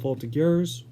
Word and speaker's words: Voltigeurs: So, Olivier played his entire season with the Drummondville Voltigeurs, which I'm pretty sure is the pronunciation.